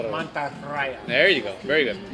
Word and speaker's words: Mantarraya: You have to roll your R's. Mantarraya.